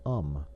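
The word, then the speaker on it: homme: learned from Darnau that it was pronounced um and in the same way he was taught to pronounce ape son and tree ar.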